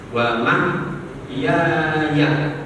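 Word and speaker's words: وَمَحْيَايَ: Jadi baca inna sholati wa nusuki wa mahyaya wa mahyaya, ya yang panjang, wa mahyaya gitu bacanya, jangan wa mahyaya.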